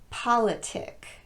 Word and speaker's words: politic: They're all stressed on the first syllable with the exception of the last one. Catholic, bishopric, politic, arsenic, lunatic, rhetoric, turmeric, and arithmetic.